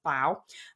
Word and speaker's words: bao: and this is what I found so baoban's pronounced bow also known as Steam buns or they are